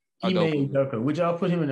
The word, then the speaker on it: Ime Udoka: Would y'all put I can't pronounce that coach. Ime Udoka. Ime Udoka.